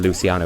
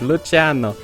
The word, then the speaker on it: Luciano: And the guy next to me couldn't wrap his head around Italian pronunciation, just kept calling him Luciano. Like no, it's Italian, he's Luciano. But yeah, they've changed to a slightly more appropriate advertising campaign since.